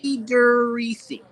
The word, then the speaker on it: Friedericy: Friedericy. Bonita Friedericy. It is always lovely to see. Very good. You spelled it phonetically for me on that envelope you sent